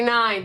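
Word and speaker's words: Nein: But spelled like N-E-I-N. The Mighty Nine.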